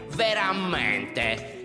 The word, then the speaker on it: veramente: Adesso c'è quest'altra parola che si pronuncia in questa maniera. Veramente. Si pronuncia come semplicemente. Come abitudinariamente.